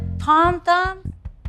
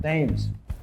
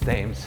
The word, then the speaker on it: Thames: Michael, Tom Thumb? Thames. It's Thames. Hi. Hi. It's not how it's spelled.